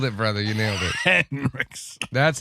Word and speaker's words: Henriksen: Henriksen.